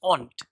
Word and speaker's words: und: and in English owned und in German but the pronunciation is aunt that means when you